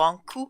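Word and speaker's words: Ankou: Basically, the whole deal about the Anku, or Anku as we pronounce it in France, it's usually some kind of undead that usually departs the dead around Britain for a whole year.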